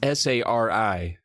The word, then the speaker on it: Sari: And it's S-A-R-I, Sari. And also it sounds like the word sorry, as if she's a sorry excuse for a good kid, because she's awful.